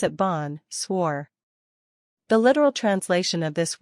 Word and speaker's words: bonsoir: friends four switch to bonsoir in the evening pronounce it Bon swore the literal translation of this word is good